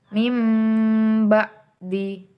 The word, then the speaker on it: min ba'di: Contohnya mim ba'di. Kan pertamanya min ba'di. Karena nun mati bertemu dengan ba maka diganti menjadi mim bunyinya.